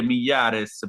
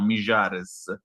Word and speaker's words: Mijares: Io le leggo con l'accento portegno. Lo so che dovrei dire Millares, però a me viene più facile l'argentino, Mijares.